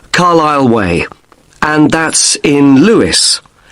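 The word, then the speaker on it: Carlisle: 45 Carile Way. Could you spell Carlile for me? Sorry. It's C A R L I S L E. You don't pronounce the S. Carile way.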